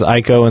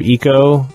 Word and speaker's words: Ico: Ravenbaum gets on my ass for saying Ico as Ico instead of Eco.